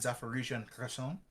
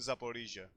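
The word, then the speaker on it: Zaporizhzhia: supplies the units around zapparition sorry I always I have a hard don't worry you you have the you have American pronunciation capabilities I wouldn't expect much more I'm sorry I'm sorry I'll use my Superior uh Greek pronunciation skills to help you out so yeah it's her son and zapore Asia yes the units in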